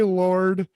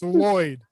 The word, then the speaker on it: Lloyd: was like oh hey lord and he's like no it's lloyd my name is lloyd the janitor's name is lloyd and he's like oh we've been mispronouncing it this whole time they have a